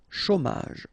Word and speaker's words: chômage: Remember, CH together, ch, chaud, chômage, au chômage.